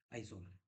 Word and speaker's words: Aizawl: ये स्पेलिंग आप लोग ध्यान से देखेंगे, आइजोल है, AIZAWL, आइजोल। उसके बाद बचा त्रिपुरा।